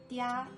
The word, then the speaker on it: 嗲: Then the plus e plus a makes dia, as in 发嗲, which